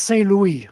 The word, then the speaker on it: Saint Louis: It's pronounced Saint Louis.